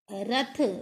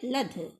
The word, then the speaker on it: रथ: जैसे बच्चे रा नहीं बोल पाते हैं और उन्होंने बोला रथ, रा से रथ, और कई बच्चे क्या बोलेंगे, ला से लथ, तो ये क्या है, अशुद्ध उच्चारण है।